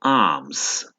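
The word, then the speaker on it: alms: तो यहाँ पर एल जो है ये साइलेंट है, आप इसे प्रोनाउंस नहीं करेंगे, तो आर्म्स।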